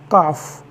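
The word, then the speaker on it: calf: एक रूल होता है जब भी एल के पश्चात एफ आ जाए या के आ जाए तो उस कंसन में एल साइलेंट होता है जैसे सी ए एल एफ काफ काफ means बछड़ा टी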